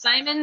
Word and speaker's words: Szymon: I want to say Simon, but it's spelt Szymon, or as you guys say Szymon. I think Um, it's Simon.